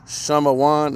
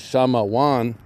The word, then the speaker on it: Shamawan: Affliction heard, Shamawan. Affliction heard, and I want you to see it right there, number 4. Simeon, affliction heard, Shamawan, and that's the Paleo Hebrew.